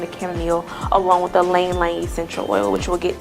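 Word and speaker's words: ylang-ylang: And a lot of people don't know how to say Lang Lang because it's like Y-L-A-N-G, but it's actually Lang Lang. You don't pronounce the Y, the Y is silent.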